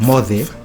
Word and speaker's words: moce: But it's not pronounced C, it's TH. Like Mothe, Mbaye. Yeah. MOCE, Mothe. Wow.